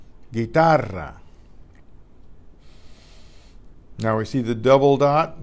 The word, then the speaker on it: guitarra: Miguel that are silent you again in la guitarra la guitarra la guerra llegará Antigua Antigua any